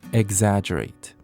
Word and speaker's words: exaggerate: 표현으로는 앞에 이 x지만 egg처럼 이 계란이라는 단어처럼 발음하시면 됩니다. exaggerate.